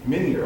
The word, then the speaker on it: Minier: University, Golden Flashes, Minier, did I pronounce it? Minier, okay, I got it right.